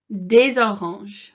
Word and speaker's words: des oranges: And if you listen to this when I'm pronouncing it, it kind of runs into des oranges. So whenever you've got something that ends in this S here, les or des, and it's followed by the vowel, then it kind of